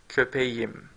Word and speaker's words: köpeğim: Okay, so we soften the K, we make it a soft G. So we say benim köpeğim. Okay, because köpek ended a hard consonant, a ketchup consonant, and then the suffix had a vowel, so K softened into soft G.